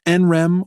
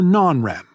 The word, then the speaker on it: NREM: Our sleep is divided between REM sleep and NREM sleep, which you can pronounce NREM or non-REM.